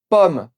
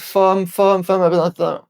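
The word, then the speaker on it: ผม: C'est un P aspiré. C'est-à-dire qu'il faut souffler de l'air en même temps qu'on le prononce.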